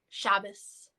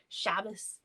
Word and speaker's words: Shabbos: So the Sabbath, or in Hebrew Shabbat, or in Yiddish Shabbos, which is also Hebrew if you're pronouncing it in the Ashkenazi pronunciation, Shabbos.